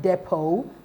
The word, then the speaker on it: depot: Whistle, the T is silent, and in the word depot, the T is silent, while option B and option D are the audible TH sound.